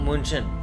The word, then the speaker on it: München: München. It was written in Germany. You cannot just pronounce that, na?